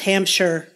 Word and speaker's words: Hampshire: It'd be pronounced Hampshire. Hampshire.